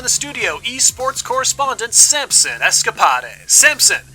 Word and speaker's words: Escapades: Samson Escapes. Is that correct? No, that is not correct. It's Escapad like how you pronounce De Moines.